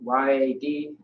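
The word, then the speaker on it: יד: So Y-A-D. Yeah. Yad or yad is how you pronounce it, which means hand.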